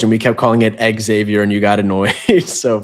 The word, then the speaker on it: Xavier: Remember, it's not Xavier Edwards. It's Xavier, which is kind of a thing that like that's one of the biggest things that they always pronounce because you know it's Xavier because when you say the name Xavier, you don't want to say Exavior. You know, his is Exavior Edwards. Like, that is a clear pronunciation how he wants it.